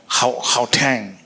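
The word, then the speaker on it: Gauteng: So I will start with uh Willie Vosor um Waterfall City which is in uh Haang is that how to pronounce it?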